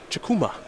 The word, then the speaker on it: Chukwuma: Jonathan Job and Benedict Chukwuma. The W is silent.